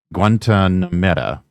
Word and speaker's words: Guantanamera: Guantanamera, I believe the word is pronounced.